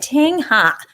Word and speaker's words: Thanhha: awesome thank you donna and welcome all right ting ha hi good evening um what i do basically is i pronounce my name for people that is my